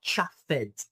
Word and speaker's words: chuffed: In pronunciation, this, the end is not chuffed, it's chuffed, the sound of T. So the ED becomes T.